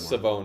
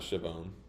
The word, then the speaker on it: Savone: And also, it's Savone, not Shavone.